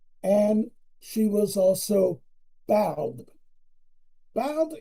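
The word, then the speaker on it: Badb: Bald is spelled B-A-D-B, but it's pronounced Bald.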